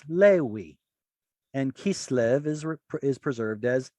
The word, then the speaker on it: Levi: So why is it that Levi is preserved as Lewi and Kislev is preserved as Kislev?